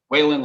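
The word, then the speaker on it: Whalon Lake: um because you could connect to lake whale whalen's or what i i'm having a hard time pronouncing it i'm sorry whalen lake waylon lakes thank you thank you this is will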